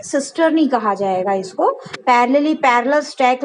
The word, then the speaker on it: cisternae: Spelling में यहाँ मिस्टेक है, CISTERNAE, ठीक है, सिस्टर्नी कहा जाएगा इसको।